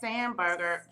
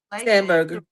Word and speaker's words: Spanberger: And did you all also hear in Virginia that the governor, the new governor, Abigail Spanberger, is how you say her name, signed Yes. Spanberger.